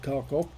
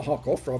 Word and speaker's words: Kharkov: on the old map of kharkov uh hawk off i should say um that's the correct russian pronunciation um i actually drove